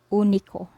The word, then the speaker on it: único: This is pronounced as U, as in English, put, book, push. Say for example, we pronounce this word here as único, único, which means single in English, único.